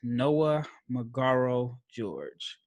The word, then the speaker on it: Noah Magaro-George: draft and so my guess for today is noah mcgarro george and did i pronounce that right yeah perfect man it was